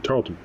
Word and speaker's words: Tarleton: place which place where the look is stowed Tarleton no you said it right did I yeah